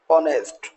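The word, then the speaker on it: honest: ऑनेस्ट, आवर, अब आप देखेंगे एच को यहाँ अगेन हमने साइलेंट रखा है तो आवर, वाइल, वाइट।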